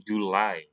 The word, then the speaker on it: July: And then kalau Juli bukan Juli tapi July.